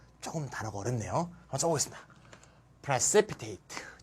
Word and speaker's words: precipitate: AT는 두 번째 앞에 액센트예요. precipitate. 따라해봅시다. precipitate.